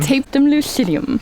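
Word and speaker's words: tapetum lucidum: Tapetum lucidium.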